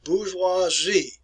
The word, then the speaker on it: bourgeoisie: And this first word is pronounced as bourgeoisie.